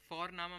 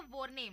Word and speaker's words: Vorname: और जर्मन में हम जिस तरह से लिखते हैं, लिखना और प्रोनाउंसिएशन अलग होता है, तो इसलिए तुम सी साई में कंफ्यूज हो जाते हो। और हम यहाँ पे फोरनामा प्रोनाउंस करते हैं बट लिखते हैं उसको VORNAME। ओके, तो वो हम इंग्लिश के अनुसार प्रोनाउंस करेंगे तो बनेगा वॉरनेम, बट नो, इट्स फोरनामा।